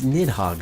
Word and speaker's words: Nidhogg: saying the wrong thing it's nidhogg ur just like nidhogg I mean this name